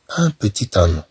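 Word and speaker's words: un petit agneau: طبعا هنا عندنا ان بتي، ان بتي، حتى لا تنطق، ولكن عندما تنتكلمون على لاليزون، لاليزون يعني الربط، ملي تربطوا هذه الكلمه مع هذه الكلمه، إذن تولي كأنها كلمه واحده، وبالتالي هالطي تتنطق، أن بوتي تانيو، أن بوتي تانيو.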